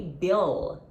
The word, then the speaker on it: bill: pay my bill um you're gonna touch your upper teeth with your tongue you're gonna your tongue is gonna touch your upper teeth you see my upper teeth okay Bill Bill you can't say view